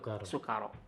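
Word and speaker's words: سكارى: taqrabus sholata wa antum sukaro. Jadi pakai sin ya, jangan shin. Kalau shin artinya syukur. Kalau sukaro itu mabuk.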